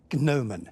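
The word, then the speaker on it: gnomon: Roman alphabets Chinese yes what name spelled with a silent first letter G is given to the raised part of a sundial that casts a shadow no man yes which knighted former England cricket captain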